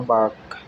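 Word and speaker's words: balk: बालक वाक होता है वाक एल इसमें साइलेंट है अकॉर्ड एक मींस होता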